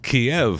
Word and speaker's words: Kyiv: You got to say it's like it's still 2 syllables. Kyiv. But I mean, it's been Kiev forever.